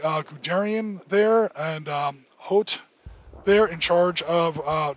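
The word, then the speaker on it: Hoth: name yet hello Rasmus how you doing um but we had guys like Papa hot as he's often called no it's not pronounced ho it's not an ice planet in Star Wars um hot and especially Garian and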